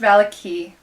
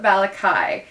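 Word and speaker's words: Vallaki: know they're going to i know it's pronounced valaki i call it balakai and now you know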